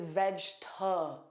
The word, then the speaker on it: vegetable: Now, you might be wondering, Jennifer, why is that vowel not pronounced? It's because the vowel is unstressed. And unstressed vowels are either weakened like you heard with veg t. That is a weakened sound. Or it's dropped like chocolate.